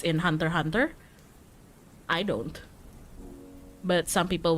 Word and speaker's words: Hunter x Hunter: Aku soalnya kalau Hunter x Hunter nggak bilang X-nya, aku bilangnya Hunter x Hunter. For me, for Hunter x Hunter, I don't say the X.